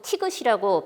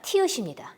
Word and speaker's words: 티읕: 잘 알고 있기 때문에 이것도 자꾸 티귿이라고 발음을, 그러니까 이름을 말하는 우리 화자들이 있는데 티귿이 아니라 티읕입니다. 이게 정확한 이름입니다.